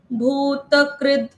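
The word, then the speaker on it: भूतकृत्: पहले है भूत, त का भूत उच्चारण पूरा, फिर पूर्ण। कृद, क के साथ रू की मात्रा और उसके बाद आधा द। भूत कृद, इतना एक पार्ट।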